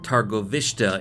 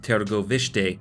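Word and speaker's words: Târgoviște: started in season one they all pronounce it targo vista in the show but i think it's pronounced tergo vishte romanians correct me if i'm wrong so they return there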